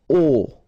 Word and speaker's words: au: So, a plus le will become o, like that. You write it AU, you pronounce it O.